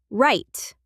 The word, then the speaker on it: write: Or write. The W is silent. Write and hour.